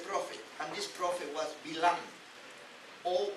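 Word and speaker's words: Balaam: and this prophet was Bilam, or Baalam. Also the term Bilam, that is the pronunciation in Hebrew, and has come to us as Baalam, the transliteration.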